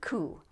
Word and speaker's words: coup: used with the word coup. A coup is when a group of people overthrow the government. So don't pronounce the P.